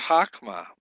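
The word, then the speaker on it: חָכְמָה: And in the word hakma, however, the vowel under the chet is a commensative. It's a short O, and therefore is not marked with a method. The shava under the kaf is silent because it comes at the end of a closed syllable that contains a short vowel.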